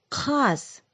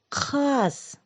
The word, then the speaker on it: қаз: Гусь – қаз. Назовите, какой волшебный звук услышали? Как будто рыбную косточку достаем из горлышка. К. Теперь правильно произносим. Қаз.